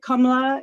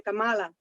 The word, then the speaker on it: Kamala: in Spanish we say Kamala so it's different pronunciation it's you know so wait how do you say it I say I say Cala Kamal okay with the emphasis on uh the middle syllable you know as opposed